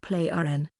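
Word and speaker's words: Plejaren: The word is pronounced Play-RN, and it must be pronounced correctly.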